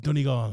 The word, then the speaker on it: Donegal: I feel like anyone from outside of Ireland can say it's pronounced Donegal, so a lot of people call it Donegal or something like that.